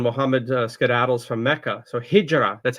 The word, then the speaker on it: hijra: So hijra that's how we pronounce it.